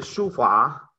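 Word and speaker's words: 书法: una pregunta la caligrafía caligrafía en chino se dice sofá y se escribe de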